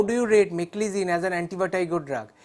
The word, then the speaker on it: meclizine: as an antibiotic or drug hey this is pronounced as make listen and it is not me psych listen so how do you rate meclizine as an antibiotic or drug it is not